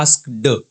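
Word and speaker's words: asked: एक शब्द है एस्क्ड हम इसको बोलते हैं एस्क्ड डी एस आपको नहीं बोलना है आपको बोलना है एस्क्ड एस्क्ड सामने वाले को अपने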